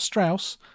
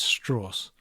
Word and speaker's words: Strauss: that of Admiral Strauss he makes it very clear how you're supposed to pronounce his name it's not Strauss it's straws at least I think